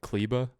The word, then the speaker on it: Kleber: Maxi Kleber. That's how you say his last name, right? Every time I hear it on the air, it's like Kleba.